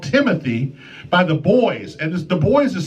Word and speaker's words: Buoys: This one is called Timothy by the Buoys, and the Buoys is spelled differently.